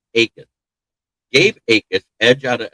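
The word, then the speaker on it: Jacas: Akis pronounced with a silent J was a three-star recruit out of Port St.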